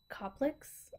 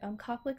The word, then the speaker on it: Koplik: you also get these I think you pronounce it Koplicks. I believe that's how you pronounce it. Koplik spots.